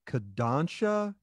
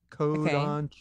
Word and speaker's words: Kodansha: There is an anime company called, I'm going to mispronounce it, Kodansha. Kodansha, okay.